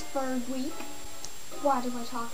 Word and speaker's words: Freg: My name is Ferg, and it's spelled F-R-E-G.